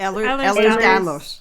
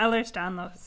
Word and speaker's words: Ehlers-Danlos: This can include a number of different things, connective tissue disorders like I don't know how to pronounce this. Ehlers-Danlos. Yeah, Ehlers-Danlos.